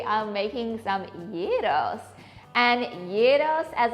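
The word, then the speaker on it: gyros: to Greece we are making some Yos and Yos as it's pronounced not gyro or jro or Euro it's y is how they say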